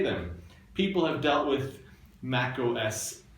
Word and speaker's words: macOS: for 15 years, but it's not called Mac OS X. You can call it Mac OS 10, but I prefer to treat the X as silent and pronounce this macos. It rhymes with tacos.